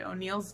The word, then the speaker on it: O'Neal: And so I created O'Neill's Deals based on my last name, because my last name is O'Neill. And it just happens to rhyme with deals and is spelled the same way.